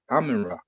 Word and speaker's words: Amun-Ra: Amun-Ra, not No, Utra.